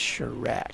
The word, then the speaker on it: Chirac: I think it's Chirac. Chirac. You're right, it's Chirac.